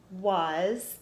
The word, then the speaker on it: was: So Jack was is our trick word, and it sounds like it has a U, but it's not. It's W-A-S.